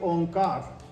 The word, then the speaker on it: Onkar: tick on car and it is pronounced like omkar how do we know